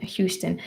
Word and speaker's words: Houston: So, we do pronounce the H in Houston.